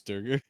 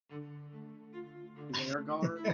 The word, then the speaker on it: Duergar: Is if a deep gnome and a dwarf sleeping together is what creates Durgar. Dwergar, you mean?